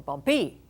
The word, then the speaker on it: bumpy: Is it bumpy or bumpy? That doesn't sound right. Bumpy sounds right. There's my accent. Then this final Y is in an unaccented syllable, and it's going to sound like a long E.